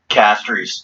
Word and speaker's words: Castries: he fought suffrage but have like an anglicized bastardized pronunciation reason being because instead of renaming everything after the french left it just kind of repronounced everything so it's like fray oh hell no i'm just gonna call it castries for what it's worth